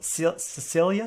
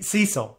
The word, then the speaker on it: Cecil: you seen this hotel cecilia do you know about this this might be our next assignment it's an la hotel yeah okay see cecil i'm say i said it wrong hotel cecil yeah it's in la